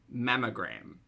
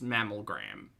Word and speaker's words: mammogram: the strawberry effect um mamogram mamogram not miss mammal gram got it they don't